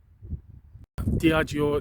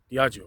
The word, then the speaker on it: Diageo: that sort of direction diago the spelling of the word is just spelled d-i-a-g-e-o diagio so i've pronounced that so i hope